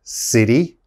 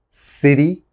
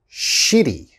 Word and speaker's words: city: the first one is city okay city city you have to pronounce that city and a lot of my students say shitty okay you don't want